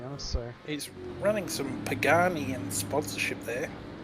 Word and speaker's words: Pagani: so he's running some Pagani and sponsorship there or is it apparently pronounced pag name but I prefer to go with my original name The Pagani Ben Anthony is just